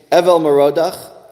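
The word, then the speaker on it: Evil-Merodach: he destroyed then he his predecessor was a King named Evel moroda again that's the pronunciation he's a Babylonian King belshazzar was the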